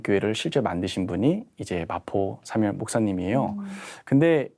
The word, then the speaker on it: 마포 삼열: 당시 3.1운동을 주도했던 하나의 미랄이라고 표현되는 마포 삼열 목사입니다. 사무엘 마펫이에요. 그래서 이제 사무엘이기 때문에 삼열이고요. 당시 목사님을 마펫이니까 저 F 발음이 어렵잖아요. 그래서 마포.